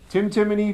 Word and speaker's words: Timoney: tum me it is either Timothy just think Tim timy Tim timy Tim Tim Tim yeah I